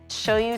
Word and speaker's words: shoyu: Shoyu tare.